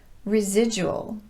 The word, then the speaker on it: residual: Today, I want to address those words where the letter D is pronounced just like the letter J.